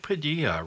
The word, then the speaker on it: Padilla: And to Mike Padilla, rhymes with tortilla, our technical producer.